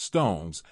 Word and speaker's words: SixTONES: with the rock pop group six tones pronounced Stones is a quietly ambitious